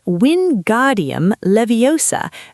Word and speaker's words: Wingardium Leviosa: because in the film, Hermione famously corrects Ron's pronunciation. She says, and I'll try to do my best Emma Watson impression here, it's Wingardium Leviosa.